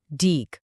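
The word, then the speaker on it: deque: पर जिसका नाम है डीक। आप इसे क्यू का एक एडवांस्ड या ज्यादा पावरफुल वर्जन समझ सकते हो। डे क्यू जिसको हम डेक की तरह प्रोनाउंस करते हैं।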